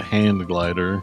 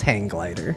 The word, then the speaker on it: hang glider: you tried cuz I know I've called it hang glider but I know it's a hand glider to John's credit I also spell it that way and never knew that was any different it's not hang glider I thought it was hang glider It is hang glider. You hang from it, isn't it?